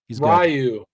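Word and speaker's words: Ryu: Rayu. That's how you pronounce it.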